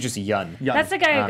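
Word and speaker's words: Yeun: I think it's just Yun.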